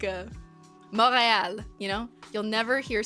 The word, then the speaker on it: Montreal: Like uh morale. You know, you'll never hear someone from Montreal say Montreal. Like no. No. It's moral. It you don't even pronounce the T.